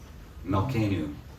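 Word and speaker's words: מַלְכֵּנוּ: Melechim. Yeah, so it gets the vowel like Sarai and then the new, right? Melkenu, our Father, our King.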